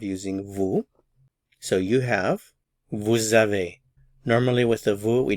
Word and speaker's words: vous avez: However, since a vowel follows, there's liaison, and we pronounce the S, and remember, it sounds like an English Z sound, z. Vous avez, vous avez, vous avez, and we don't pronounce the final consonant, vous avez, vous avez.